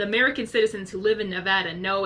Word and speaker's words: Nevada: the UN Reno Nevada Nevada it's Nevada I have cousins who live there they know how to pronounce it how how correct you two wait Nevada it's so funny everyone else call calls Nevada Nevada like no it's actually Nevada like people like the